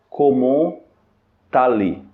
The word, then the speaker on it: comment allez: nós chamamos de lieson que é quando a pronúncia das duas palavras se conecta quando a primeira palavra